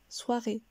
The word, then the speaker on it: soirée: Le son descend, ré, ce qui nous donne soirée.